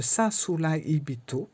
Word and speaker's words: Sasuraibito: avoir le sasibito le sasulbito alors je le prononce comme ça parce que on prononce pas les r dans ce mot là on prononce pas le r le r devient un L donc voilà et on